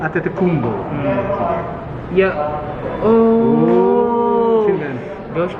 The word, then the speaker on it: Antetokounmpo: Paano ba pronounce last name niya? Antetokounmpo. Antetokounmpo.